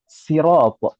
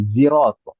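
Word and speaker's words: صراط: Ah, maka di sana misalkan sirat kata sirat itu ada kabilah yang membacanya dengan sin sirat bukan shad. Ada juga yang membacanya pakai zai zirat gitu ya.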